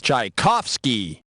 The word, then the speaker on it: Tchaikovsky: rhyme with i can't the pronunciation for this famous russian composer is tchaikovsky and if i'm not